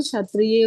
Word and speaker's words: क्षत्रिय: उच्चारण सुनाई देना चाहिए आधा क और श मिलके श छ नहीं है वो तो उसको क्षत्रिय हो गया या बहुत सारा शब्द